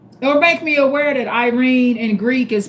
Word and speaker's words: Irene: But I understand in um some African languages and since Irene is a Greek name, the correct pronunciation is Irene.